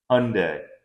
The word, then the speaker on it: Hyundai: H gan's first Hyundai not Hyundai Hyundai see even I'm pronouncing it right now HRA and boosted